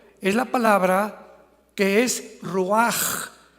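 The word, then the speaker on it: רוח: La palabra para espíritu en el hebreo es la palabra que es roaj, que se escribe ru con ch, pero repito, ese pronuncio pronuncia como J.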